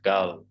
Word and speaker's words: girl: r is before congruent so we pronounce it as girl girl girl i know that girl girl it's not girl if you pronounce r again you would pronounce more like an american speaker if you say girl